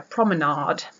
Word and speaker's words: promenade: And it turned out to be a promenade. And I was like, why would you say that? I mean, it's lemonade. And I know it's like aid as in like Kool-Aid, but still it's A-D-E, and the other thing is A-D-E as well.